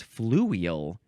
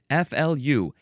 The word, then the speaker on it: fluvial: It's fluvial.